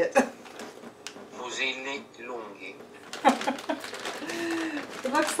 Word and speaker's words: Fusilli Lunghi: Fusilli Lunghi.